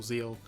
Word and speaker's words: ZEXAL: I always forget it's Zeal, not Zexal. The X is meant to be silent.